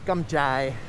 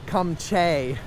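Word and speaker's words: cơm chay: a day back then we didn't know how to pronounce uh gumjai we were calling it calling it come Che no wonder nobody had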